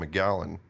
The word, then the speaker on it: McGallon: McGallen. Gotcha. So my middle name is Macallen. M C A L L. Couldn't really pronounce it much as a child and it always came out sounding like McGallen.